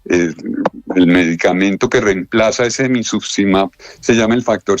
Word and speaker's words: emicizumab: Este emicizumab, el que le faltó a Kevin, ¿lo estoy pronunciando bien? ¿Emicizumab?